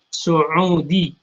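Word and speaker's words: سعودي: Kalau orang Arab biasanya membacanya bukan Saud ya, tapi Saudi. Saudiyah.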